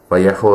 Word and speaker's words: Vallejo: So if you ever hear me call Vallejo, Vallejo is how it's meant to be pronounced.